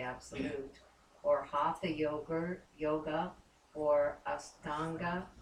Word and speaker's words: Ashtanga: or Hatha yoga, or Astanga, how do you say it? Ashtanga, that's right.